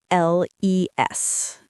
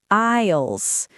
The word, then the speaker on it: aisles: Aisles. The S is silent. We say aisles.